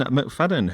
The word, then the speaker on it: McFadyean: a show our next guest tonight is Ben McFadden who is the president of the borussia dortmund